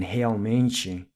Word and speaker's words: realmente: Then the second syllable in realmente, the AL is pronounced with an AU sound.